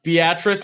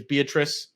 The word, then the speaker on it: Beatrice: but there's that one uh Beatrice instead of Beatrice a lot of people think it's Beatrice yeah you know the story on that one the Beatrice one or Beatrice it's crazy because the